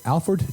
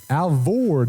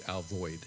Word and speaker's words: Alvord: Is that correct? Is that the pronunciation? Alford. Alford. Oh, let's pronounce it properly. Alford. Alford, Texas. You're still not there. Yeah. Alford. Alvord. Oh, did There I you spell go. it wrong? No, Alvord. you spelled it correctly. Okay, but that's how you say it. And Mark, how do the originals say And it? if you lived here for 100 years, it's known as Alvoid.